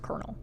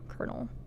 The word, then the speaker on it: colonel: Cuz why is colonel spelled colonel but pronounced kernel? But I also feel like that's something that a lot of people know, like colonel, kernel.